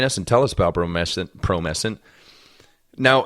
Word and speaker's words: Promescent: It's pronounced Promescent.